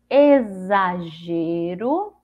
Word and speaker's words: exagero: bom a última é o x com som de z então aqui a gente vai ver que é uma das mais fáceis que tem que é só gente pronunciar o sonho dizer apesar da gente tá vendo que ela é formada pelo X mas ela tem um sonho dizer então Aqui nós temos o nome exagero Olha só o som